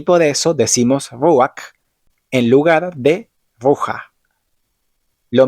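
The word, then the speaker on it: רוח: Cuando la letra Het está al final de la palabra, igualmente se pronuncia como una J, pero el sonido vocal suele estar antes, haciendo un sonido algo así como ak.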